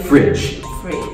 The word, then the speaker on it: fridge: The pronunciation should be very short. J, just like jump. Jump. Jump. Or gym. Like gym. Or jam. So, yeah, so we put it at the end. Bridge. Fridge. College. College. Fridge. Not G. No G.